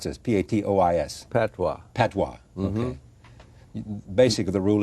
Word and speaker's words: patois: uh tatas no I skipped I had to pronounce this p-a-t-o-i-s Patois Patois basically the rule is use Regional